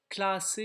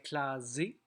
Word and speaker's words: classé: Classé, il faut doubler le S, sinon on aurait clasé.